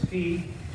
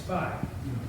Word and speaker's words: phi: Well, it's phi, or it's phi. Or it's All the pho. Greeks who really know how to say it are deaf. So, So it's like pi, P-I, but it's P-H-I, so phi or phi.